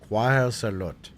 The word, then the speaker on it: Cuāuhocēlōtl: Cuāuhocēlōtl. Okay. Cuāuhocēlōtl. Cuāuhocēlōtl. Sorry, it's so loud. I don't even know how to turn that down. Cuāuhocēlōtl. Cuāuhocēlōtl.